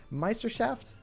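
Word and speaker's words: Meisterschaft: you're doing some ESL Meister shaft that's how you pronounce it some of us some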